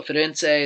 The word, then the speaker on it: Firenze: use to book your So Firenze is how it's pronounced in Italian, and then you're going to go to Venezia.